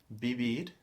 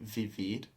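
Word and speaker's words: vivir: do they don't say Vivid they pronounce it more like a b like b b b b so it's actually a little bit in between b and a v it's quite a soft B so b b and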